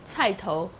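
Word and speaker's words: 菜頭: radish radish yes and the pronunciation is uh title that's actually the southern M pronunciation and title is again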